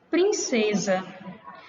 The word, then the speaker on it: princesa: Princesa. Quando eu pronuncio a palavra princesa, na escrita, eu sei que ela é escrita com S, mas a minha pronúncia, ela tem um som de quê? De Z, né?